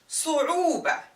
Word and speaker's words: صعوبة: صعوبة, rhyming with فعولة.